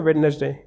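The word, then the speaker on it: Wednesday: word हमारे पास में वेडनेसडे वेडनेसडे तो वेडनेसडे में हमारा साइलेंट लेटर क्या है वेडनेसडे में साइलेंट लेटर है हमारा डी क्या है डी ठीक है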